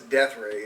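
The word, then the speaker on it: Deathrae: album for death ray that's death ray yeah it's a weird spell it DX e t h r a e yes that's what I'm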